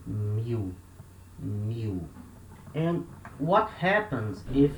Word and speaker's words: mil: it means 1000 mu when letter l comes at the end of a syllable in the in the speaking we substitute letter l for the letter u and we say mu we don't say meal remember letter l has